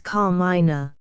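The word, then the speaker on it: Carmina: Christian name she proceeded is car minina put the accent if you please on the first syllable the moment Mrs GLE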